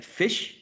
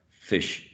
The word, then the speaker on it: fish: it you got it the australian would say short e like fish and the new zealander would use a schwa would use a centralized vowel sound fish fish fish fish great